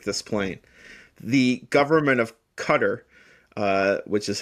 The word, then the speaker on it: Qatar: The government of Qatar, uh, which is how it's pronounced, is my apologies.